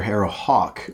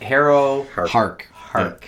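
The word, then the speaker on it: Harrowhark: As evidenced by the fact that you've been calling her Harrow Hawk all episode. Harrow Yep. What is it? Harrow Hark.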